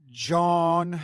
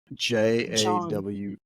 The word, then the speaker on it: jawn: John. I don't know if that's how you say it. It's Jawn.